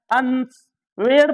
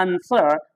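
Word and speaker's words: answer: गौर कर सकते हैं आंसर आंसर में डब्लू साइलेंट होता है अंस वेड बोलेगा वो अंस वड पढ़ेगा वो तो होता है आंसर डब्लू साइलेंट होता है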